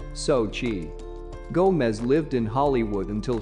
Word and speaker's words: Xochitl: the name zachitl is pronounced sochi gomez lived in hollywood